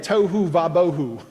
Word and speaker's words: tohu vabohu: Tohu vabohu. It's easy. It sounds like tofu, but put an H in there.